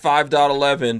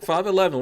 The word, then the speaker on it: 5.11: I call it 5 I've always called it 5.11 but everyone says I'm not supposed to say the dot the dot is silent but I think I'm